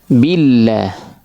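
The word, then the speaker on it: بالله: Billah, kata bil billah di mana kesalahannya tidak menyempurnakan harakat kasrah. Ya, kita orang Indonesia sering membacanya dengan ee istilahnya apa ya? ee imalah ya dengan imalah dengan baris miring tidak fathah tidak kasrah ya bukan ba bukan bi tapi b ya karena mungkin dalam bahasa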